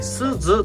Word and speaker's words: 春鈴: おりますけれども春に鈴と書いてすずと読む形になりますなので春鈴と書いてすずと読みますはいですず